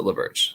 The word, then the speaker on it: LaBerge: And let's see, how do you pronounce LaBerge? I pronounce it LaBerge, like LaBerge.